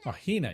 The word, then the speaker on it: Hina: You keep saying it wrong. It's Hina.